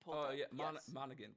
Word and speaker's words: Monaghan: Cameron Mahagan. Is that how you pronounce that name? Cameron. I haven't pulled. Oh up. yeah, Yes. Monaghan. Cameron Monaghan.